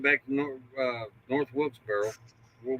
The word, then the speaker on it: Wilkesboro: was they went back to North uh North Wilkesboro or Wilkesboro Wilkesboro Wilkesboro yeah I think I'm saying it